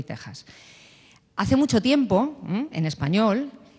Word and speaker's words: Texas: os hagáis una idea la x que hay en México y Texas que en realidad deberían supuestamente pronunciarse en México y y Texas igual que decimos examen o extranjero eh se pronuncian México y Texas Es decir esa x una una J porque es como si